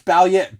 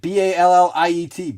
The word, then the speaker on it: Balliet: be like maybe like how can you get it wrong it's balliet b-a-l-l-i-e-t balliet doesn't match phonetically dude so yeah his